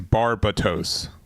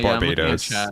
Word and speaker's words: Barbatos: a new card, but I think it's Barbatos. Is it Barbos? Yeah, it's not Barbados.